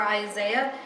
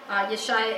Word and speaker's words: Isaiah: Contemporaries for Isiah or Isaiah. Isiah is a little closer to the Hebrew pronunciation.